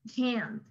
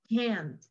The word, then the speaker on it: can't: Pero ahora ya sabes la diferencia, así que ya vas a poder decir la forma corta, can't, can't. ¿Ok? Normalmente es hasta la N. Algunos pronuncian la T, está bien.